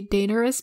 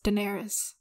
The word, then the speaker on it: Daenerys: Actually, some people say Daenerys, but it's widely pronounced as Daenerys.